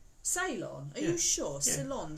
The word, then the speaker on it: Ceylon: Oh, okay, so it's Ceylon. Ceylon. Ceylon tea. Ceylon. Is Ceylon a different place? It sounds Yeah, it's like where you go and get your hair done.